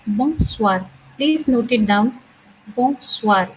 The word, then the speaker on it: bonsoir: Bonsoir. It has a nasal sound again. Whenever there is a bon, because bon in French means good.